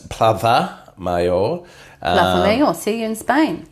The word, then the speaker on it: Plaza Mayor: told that I'm not allowed to say uh Plaza mayor it's plava mayor mayor see you in Spain yeah yeah CU